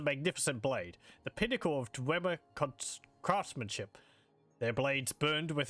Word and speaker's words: Dwemer: I think it's actually pronounced Dwemer.